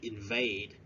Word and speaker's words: invade: again invade invade yes don't forget to stress ask the second syllable invade to enter a Country